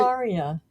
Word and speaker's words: Maria: Maria. I just can't do it. Rhymes with how are ya? How are you, Maria? Is Like with Mar-a-Lago. us. Mar-a-Lago, Maria.